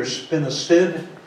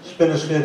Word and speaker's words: spinosad: If you were going to spray, if you reach that point, most people use either spinosad, even though it says S-A-D, it's pronounced S-I-D for some reason, spinosad and permethrin.